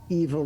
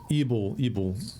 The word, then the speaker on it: Ebel: We've Did you long say evil grasp? Ebel, Evil. What an unfortunate name. Sounds a lot like Evil Grasp.